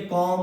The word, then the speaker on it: comb: अगर एम के बाद बी हो, एम के बाद बी हो तो बी क्या होता है? साइलेंट होता है। COMB। देखिए एम के तुरंत बाद क्या है? बी। तो क्या बोलेंगे? कॉम।